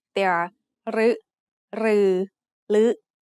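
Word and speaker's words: ฦ: The other pair of vowels is similar, except they are pronounced like a combination of ลอลิง with the vowel sounds สระอึ or สระอือ ลึ and ลือ are written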